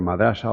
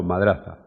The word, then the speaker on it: madrasa: era una madrasa que se puede pronunciar madrasa o madraza y que estaba remodelada